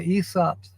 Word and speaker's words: Aesop: The allusion is to one of Aesop's fables. Yes, I said it correctly, Aesop, even though it's spelled A-E-S-O-P.